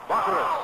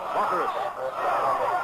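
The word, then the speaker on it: Bachouros: Bacurus, I'll spell his name again for you, B-A-C-H-O-U-R-O-S. He's a junior from Chicago, Bacurus. With that three or four pronunciations of his name, Bacurus taking the completed forward pass.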